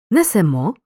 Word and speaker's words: несемо: везти розповісти зверни увагу у першій особі множини ми наголос на останньому складі несемо веземо розповімо трапляються випадки коли зміна